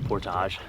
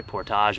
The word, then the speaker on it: portage: It's you could say portage or portage. I think Americans say portage. Canadians and everyone else say portage. And I think I'm going to have to side with the Canadians on this one.